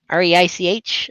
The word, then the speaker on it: Reich: R-E-I-C-H?